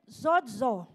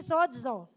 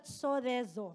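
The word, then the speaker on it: σῴζω: Saved from the Greek word zozo. Repeat after me, zozo. So that is the Greek word for save, pronounced as sodezo or zozo.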